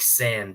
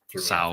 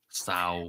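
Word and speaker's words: São: Are my ears fucked, or were people saying like San Paulo a bunch of times when they were announcing it? There was like a weird pronunciation in there. Sao. I didn't like it. Sao. Yeah. It's obviously Sao.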